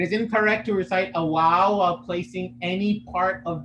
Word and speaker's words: waw: supposed to be what so the upper teeth should never be touching the uh the upper t should never be touching the lower lips when we're pronouncing uh what do you call it a wow that would be incorrect that will create a v sound this is not a v it's like a w sound w don't have your